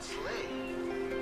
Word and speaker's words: sleigh: And the word sleigh rhymes with play. Sleigh, play.